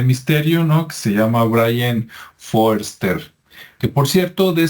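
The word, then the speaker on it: Brien: autor es Brian aunque se pronuncia como Brian pero se escribe con e y el apellido es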